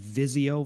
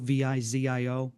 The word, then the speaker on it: Vizio: And the the thing is is like a good comparison of this is so I believe the TV company is pronounced Vizio, V I Z I O.